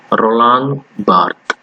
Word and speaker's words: Roland Barthes: Now we are going to study about another important name called Roland Barthes. See the pronunciation, Roland Barthes.